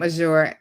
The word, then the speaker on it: Azure: been saying your name azure can you correct me and tell me what the correct pronunciation is yes it's azure it kind of rhymes with badger connected to my mispronunciation